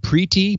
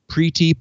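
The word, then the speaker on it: Priti: Secretary is I guess I would pronounce her name Preeti PRI TI Preeti Patel the Telegraph reports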